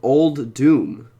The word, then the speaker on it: Uldum: the right way so the way to say this set properly is thank you to the Pingo Liam King for saying it's called old doom even though it looks